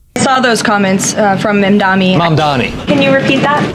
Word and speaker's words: Mamdani: I saw those comments from Mamdani. Mamdani. Can you repeat that? His name is Mamdani. I know you don't mean it this way, but when you mispronounce his name, it comes off as disrespectful.